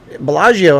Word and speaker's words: Bellagio: b it's the bellagio bellagio has three syllables bellagio four syllables resorts world has two